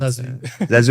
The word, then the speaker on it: Zazu: In Morocco, people sometimes have a harder time to pronounce it because I think the U may not exist, like they say Zuzu or Zazu, but Zazu exactly.